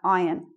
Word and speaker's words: iron: with these words like this one iron we don't we don't say that are well how do I show that we don't say they are it's just like that iron this one if you're